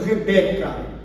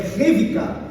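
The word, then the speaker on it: רבקה: Esse ivri, porque o V no hebraico é B, tá? Então lá eles não pronunciam Rebeca, né? É Revika, o B é sempre V.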